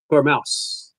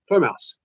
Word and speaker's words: Tormouse: My name is pronounced Tormouse. Tormouse. It's a play of the DJ Deadmau 5.